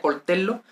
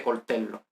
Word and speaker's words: coltello: Coltello, bueno, se pronuncia coltello y vemos que hay una O.